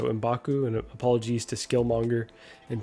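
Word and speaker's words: M'Baku: two amendments here uh I always get embaku's name wrong I want to put a w in there all the time and call him in bakwu so imbaku and apologies to skillmonger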